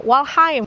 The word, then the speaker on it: Waldheim: Tulisannya sih, Wheim, ya. H E M. Dibacanya Walheim di kota kecil ini